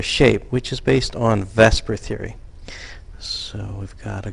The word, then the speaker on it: VSEPR: said is based on Vesper Theory a Vesper is how we pronounce VSEPR and VSEPR stands for